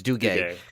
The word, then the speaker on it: Duguay: directed by Christian Duke why Duke way I think it's Duguay yeah because it's spelled the same way as the New York Rangers Oh guys I wonder